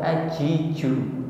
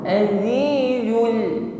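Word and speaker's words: العزيز: tetapi a au Z Zu selalu ada sirofir atau bunyi desis yang mengalir ketika mengucapkan Zaid Jangan diucapkan tanpa sirir atau tidak ada bunyi desisnya bukan ajiju seperti Huruf Jim bukan ajizu atau diucapkan terlalu lemah Azizul Ya seperti Huruf ya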